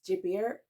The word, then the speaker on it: Gilbert: would be hre and I I will say Gilbert but in French it's jier I really love that